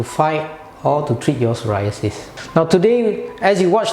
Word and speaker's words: psoriasis: That skin disease is called psoriasis and it's spelled P-S-O-R-I-A-S-I-S.